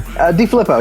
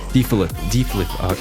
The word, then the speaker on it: DeFilippo: DeFilippo, yeah, it's close enough. So close. Okay, DeFilippo.